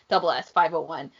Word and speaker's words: SS501: 501 is ss501 like that's how it's written it's just like it's produced or pronounced double s 501 but like the subunit